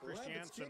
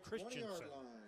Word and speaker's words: Christianson: I've been calling Parker Christianson the quarterback for Davis Christiansen it's spelled Christianson but it's actually Christensen so I apologize to